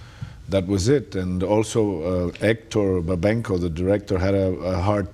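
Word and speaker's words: Héctor Babenco: read the script initially what is the correct pronunciation of your director's name hector babenko hector babenko when mr babenko submitted the script to you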